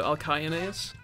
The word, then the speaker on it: Alcyoneus: Well, C's are pronounced like K, so Alcyoneus.